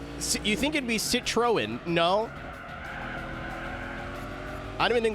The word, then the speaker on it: Citroën: It's very similar the way you pronounce it to the word lemon in French. I think.